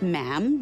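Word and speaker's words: ma'am: um and after that it's just mam rhymes with jam and it's always a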